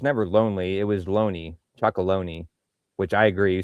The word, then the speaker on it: Chocolonely: Right, but I think it's pronounced different. Like they're thinking like chocolate. So chocolonely.